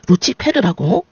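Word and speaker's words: Lucifer: 루치페르라고 발음을 하는데 새벽별 천사라는 뜻입니다.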